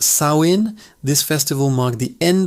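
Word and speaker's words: Samhain: Pronounced Sawin.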